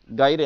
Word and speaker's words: gyre: हैं, भूत बोलते हैं गायरे, अभी उसको हिंदी में भूत ही बोलते हैं। ये स्पेलिंग होती है GYRE, इसको बोलते हैं ओशियन गायरे।